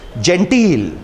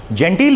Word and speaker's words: genteel: Unfortunately आज के media में उनका नाम नहीं है, बट जेंटील बड़ा इंपॉर्टेंट वर्ड है. जेंटील means urbane and polished. It's नॉट जेंटल, इट्स जेंटील. Please remember the two are different.